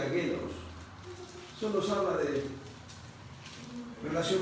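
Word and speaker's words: γένος: En Mateo 13:47 la palabra genos, escribe genos, con G, genos, se pronuncia genos.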